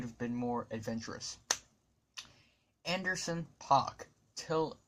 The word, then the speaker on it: Paak: Anderson Paak, Till It's Over, or Anderson Paak. I pronounce it as Anderson Paak.